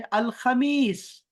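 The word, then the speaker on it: الخميس: चलें अब इसके बाद चलते हैं, अरबिआ के बाद है अल खमीस। अल खमीस। अल खमीस। अल खमीस कमीज के वजन पर है, खबीस के वजन पर है, तो ये आसान है हमारे लिए।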